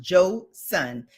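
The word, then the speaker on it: Joseon: It's pronounced Joe Sun.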